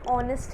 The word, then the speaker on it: honest: because ऑनेस्ट जब हम बोलते हैं तो वो एच उसमें साइलेंट है और ऐसा लग रहा है कि वो ओ से स्टार्ट हो रहा है, दैट इज़ द रीज़न,